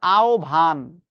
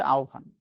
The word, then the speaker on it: আহবান: ওটার উচ্চারণ হবে আহভান। আপনি আমি উল্টাপাল্টা উচ্চারণ করি অনেক কিছু। কিন্তু ওটার উচ্চারণ হচ্ছে আওভান।